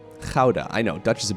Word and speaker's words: Gouda: You guys want to know the proper pronunciation of Gouda? It's a beautiful Dutch city of Gouda. Gouda. Gouda.